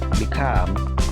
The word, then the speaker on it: become: Jadi perhatikan stressingnya punyanya come, punyanya gain, punyanya live. Jadi stressingnya itu di suara yang kedua. Avoid, become, begin, believe, blame.